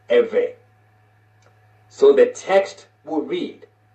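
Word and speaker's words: עברי: you will spell this IV RI and is pronounced every so the text will read Genesis 14 and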